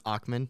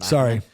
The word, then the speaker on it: Ackman: So I think that, you brought up Bill Ackman. By the way, I'm going to correct you. It's Ackman, not Ackman.